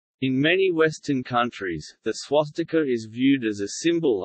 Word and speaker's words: swastika: IAST transliteration system, but is pronounced closer to swastika when letters are used with their English values.